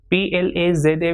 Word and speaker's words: plaza: PLAZA will be pronounced as plaza.